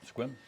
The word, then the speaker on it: Sequim: Definitely pronounced as if there were no E there, Sequim.